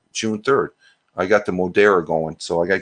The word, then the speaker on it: Moderna: Moderna.